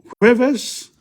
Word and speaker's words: jueves: Lunes, martes, miércoles, jueves, viernes, jueves. See, the J is not pronounced, it's pronounced like a H.